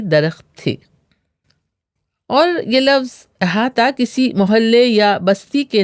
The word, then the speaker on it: احاطہ: احاطہ. احاطہ Arabic origin کا لفظ ہے جو اردو میں کئی طرح استعمال ہوتا ہے. اس کا تلفظ اکثر احاطہ بھی کیا جاتا ہے.